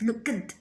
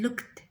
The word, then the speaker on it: looked: it to the past it is not right in english to pronounce this word as look it's like tea looked it's looked okay walked don't say what